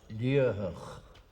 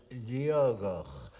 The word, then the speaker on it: Liathach: As it is written, it is pronounced Liathach, but I know that old native Gaelic speakers from Torridon sometimes pronounce it Liathach, where the T in the middle should be a G.